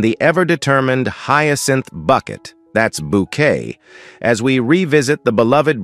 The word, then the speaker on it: Bucket: Insisting her surname be pronounced bouquet, she tirelessly hosts candlelight suppers and attempts to impress vicers, ladies of the manor, and anyone she considers important.